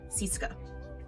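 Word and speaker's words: CSKA: So, it's it's actually called CS KA, but in Russian they pronounced it sysa, I believe. Yeah, sisa.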